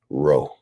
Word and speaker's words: RO3: them together you get row right so you don't pronounce it Row three you pronounce it row but people are going